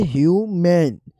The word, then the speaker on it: human: अगर उर्दू साउंड देखें तो ह्यूमन ह्यूमन और दूसरा है ह्यूमैन। पहले में ह्यूमन और दूसरे में ह्यूमैन। फ़र्क एंडिंग साउंड और स्ट्रेस में है, जो सुनते ही क्लियर लगता है।